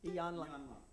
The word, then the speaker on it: Iyanla: My dear friend, Judy Pressman gave me this book for Christmas, Trust by how do you pronounce her name? Iyanla Van Zandt? Iyanla.